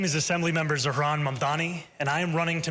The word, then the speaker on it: Mamdani: And furthermore, the name is Mamani. M A M D A N I. You should learn how to say it because we got to get it right.